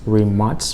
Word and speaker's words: Rimac: Now I should mention, Rimac is actually pronounced Rimac, but for the purposes of today's video, we're just gonna say Rimac.